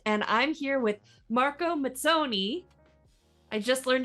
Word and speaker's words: Mazzoni: I'm the Community and Marketing Director for Catalyst, and I'm here with Marco Mazzoni. I just learned how to say this correctly. Yep, sounds great. And Mazzoni. Mazzoni.